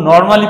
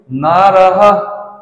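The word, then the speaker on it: নরঃ: ঠিকমত করি না আমরা যখন শব্দরূপগুলো পড়ি তখন নরমালি পড়ে যাই বিসর্গকে কোন গুরুত্ব দেই না তার কোন উচ্চারণই করি না দেখো আমরা এরকম ভাবে পড়ি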